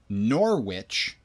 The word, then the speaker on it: Norwich: got in Connecticut here Norwich which is spelt exactly like it sounds n o R which like the evil cackling thing not like hey which one of these are we gonna choose but Pedro Pedro Pedro